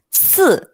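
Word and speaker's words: 四: Huruf 4 di dalam bahasa Mandarin kita akan menyebut dengan kata se. Dengan nada turun.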